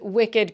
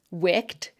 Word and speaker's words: wicked: crooked, ragged, and beloved, has the same unusual pronunciation of the suffix ed. If these words were pronounced like most English words ending in ed, they'd be pronounced naked, rugged, jagged, accursed, aged, dogged, wretched, wicked, crooked, ragged, and beloved. That's because usually the ed suffix is just pronounced as a d or